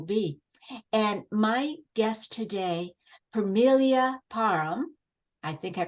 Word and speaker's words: Permelia Parham: of life will be and my guest today Familia Parham I think I pronounced that almost right you did perfect um